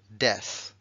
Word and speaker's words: death: del adjetivo vale Dead Dead ha acabado en ese sonido Dead y este acabado en sonido Death como una Z Death Die Dead Death